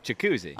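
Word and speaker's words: Jac Cuzzi: Jacuzzi. It says also that the first Z is silent, so Jacuzzi, but one Z only.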